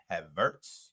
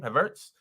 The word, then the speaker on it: Havertz: Do you think Havertz, that's how you say his name, Havertz, has been a good signing?